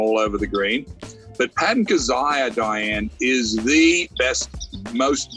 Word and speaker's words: Kizzire: Yes, Patton Kizzire.